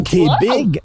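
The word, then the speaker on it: Té Bheag: T Non, Tig, on dirait T big.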